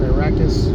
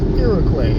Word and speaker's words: Iroquois: Not Iroquois, not Iraqis. Iroquois.